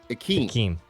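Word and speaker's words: Ikem: So yes, so the first name by the pronunciation guide, capital EE hyphen small KEHM. Akeem. Akeem, which is what you said, right? Yeah, Akeem.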